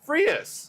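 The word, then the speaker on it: Frías: It is, and let me try to get the pronunciation here. It is Louis Frias. Frias.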